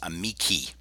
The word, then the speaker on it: amici: That was spelled Amicae, but now we have this ending here, this long I, and this is pronounced amici.